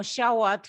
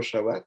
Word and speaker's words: Chaouat: know dr shawat forever so i will ask to introduce himself all right yeah well thank you for having me my name is shawat as you've pronounced beautifully and uh i'm originally